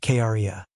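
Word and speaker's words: cría: is called a crya which is Spanish for baby is pronounced Kara llama's wool is used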